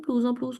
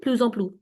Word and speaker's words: plus en plus: Ma'am, in plus en plus, do we pronounce the S? We do. Plus en plus.